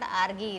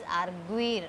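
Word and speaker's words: argüir: And then arguir, it is not arguir, it is arguir.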